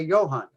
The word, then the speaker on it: Johann: this and realized it, the J is in German pronounced like a Y. It's like a Y, okay. Johann. So we don't say Johann, we say Johann.